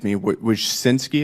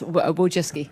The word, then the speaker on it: Wojcicki: Miss, Wojcinski, is that how you pronounce it? Yes, Wojcicki. Wojcicki, okay.